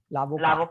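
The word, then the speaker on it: avocat: यहाँ पे T silent होगा. Lavocado.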